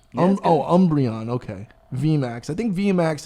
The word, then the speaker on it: Umbreon: how do you say this umbrella v max umbrian oh umbreon okay vmax i think vmax is like a